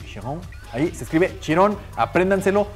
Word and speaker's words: Chiron: Escuchen bien que bien está mi francés, Louis Chiron.